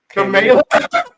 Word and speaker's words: Kamala: It's not Kamala or Kamala. Here's a correct pronunciation. Kamala. Yeah, that's it.